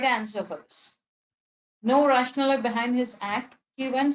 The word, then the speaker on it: rationale: The actual pronunciation is rationale.